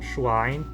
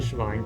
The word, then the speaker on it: Schwein: Já quando ele ocorre depois de uma consoante, que é mais comum depois de um sh ou de um ts, ele costuma ser pronunciado como um W mesmo. Então, Schwein, Zwiebel, em vez de Schwein, Zwiebel.